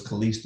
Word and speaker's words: Kalista: Kalista pronounced my name is Kalista, and she do all that stuff on YouTube, but that's my friend of our community breeds.